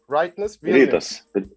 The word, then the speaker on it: Rytas Vilnius: Now, your Rytas Vilnius is I pronounce right? Rytas Vilnius.